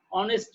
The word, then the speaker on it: honest: You see, honest man. Say here H is silent, not honest man.